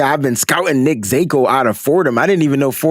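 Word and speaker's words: Zakelj: I think it's Zakiel and the J is silent.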